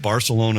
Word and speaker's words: Barcelona: We've heard it said both ways, and actually it was our tour guide right away that said Barcelona is perfectly acceptable.